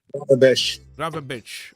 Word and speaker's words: Gravenberch: How do you pronounce his name? Gravenberch.